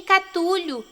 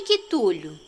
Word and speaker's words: Cthulhu: Tem quem o chame de Catulio, Catulo, Quitulo… Bem, eu chamo de Cthulhu.